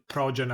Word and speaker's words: Projen: By the way, it's spelled Projen as Projen. So sounds like project, but it's Projen instead, which I always find it a little bit of a funny name.